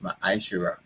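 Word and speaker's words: ma'aser: You can find this in Numbers 18:21 and Malachi 3:8-10, and it means tenth in the Hebrew and is pronounced ma'ashera.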